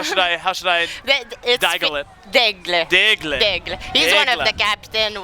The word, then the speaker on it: Delisle: You're gonna need to help me with my French pronunciation. Yeah, it's okay. How should I Delisle it? Delisle.